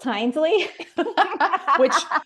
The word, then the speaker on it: Hinesley: That my last name is pronounced Hinesley.